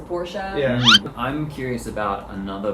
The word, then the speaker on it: Porsche: we found out that like it's supposed to be porsha you know and then like everyone started changing to porsche yeah i'm curious about